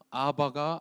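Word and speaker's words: אבא: 아빠 아버지라고 부르게 하셨다 히브리어로 아바가 아빠입니다 ABB 발음이 됩니다 입술이 완전히 붙였다가 떼어지면 아빠라고 발음이 됩니다 가끔 선교지를 다니다 보면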